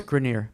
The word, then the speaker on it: Grenier: Is that the pronunciation? Yes, Grenier.